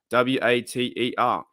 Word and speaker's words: water: don't pronounce it water we we don't pronounce the r w a t e r we say water like